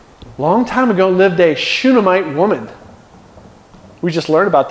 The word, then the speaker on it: Shunammite: How do you say her name? Shunammite. With an N and then an M, I think. Shunammite.